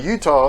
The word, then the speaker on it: Eutaw: frankly come on guys i would think that utah should be spelled like the state but the do i know anyway utah a town that as